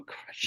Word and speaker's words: Koresh: last name, it was he said it sounds like a gargle death. That's how you pronounce it. And so I cannot imagine being the negotiator on that call You're talking about and already Koresh when getting he said triggered.